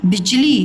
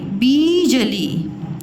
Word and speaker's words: बिजली: बिजली ब है ना बिजली ब बिजली बीजली तो यह है राइट बिजली अब देखो य क्या